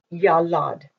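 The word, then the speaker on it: ילד: went over this yo Roman dollop and it's pronounced yellowed that's the three-letter root and if you put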